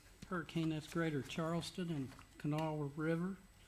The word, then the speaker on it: Kanawha: You're in the hurricane that's Greater Charleston and Kanawha River, correct? Correct. You pronounced it correctly. Most people call it Kanawha.